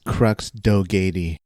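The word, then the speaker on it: Crux Dogatie: empire and their leader crux dogati or how would how would you say his name isaac it's crux doggedy dogety let's do it the jupiter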